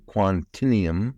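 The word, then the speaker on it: Quantinuum: It's called Quantinium, I think is the way you pronounce that.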